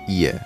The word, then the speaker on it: 夜: 夜. The fourth tone, which is night. And 市 is, of course, the market. 夜市.